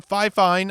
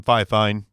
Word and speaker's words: Fifine: review and it's the phi fine i refuse to say it like they told bronson over at audio hotline how to say it i'm going to keep saying fi fine k658 usb c dynamic